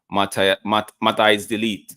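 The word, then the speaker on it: Matthijs de Ligt: Now we move next to Mata is delete. Mata is delete. Yeah, that's how they pronounce it.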